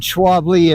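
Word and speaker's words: Schwalbe: Although we do, like I said, we do use the uh I think you pronounce it Schwabi.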